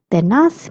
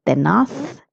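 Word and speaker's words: tenaz: The pronunciation of this word is tenath if you're in Spain and tenas if you're in Latin America. Zed has a sound of the or so.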